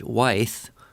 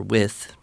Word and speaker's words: Wythe: And he talks a bit about how George Wythe, or Wythe, I've heard it pronounced both ways, as Thomas Jefferson's mentor,